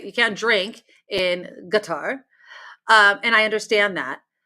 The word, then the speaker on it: Qatar: colloquial production it is guitar that's a guitar to me anybody anybody I'm here in guitar guitar with like the emphasis on the on the first one um but yeah so